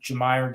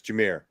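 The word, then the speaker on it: Jahmyr: to the Senators uh jameyer Gibbs do you hear Gibbs yep it's not your Myers Jamir Jamir okay pronunciations come here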